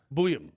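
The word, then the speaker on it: Buium: How do you pronounce his last name? Boom? Booyam.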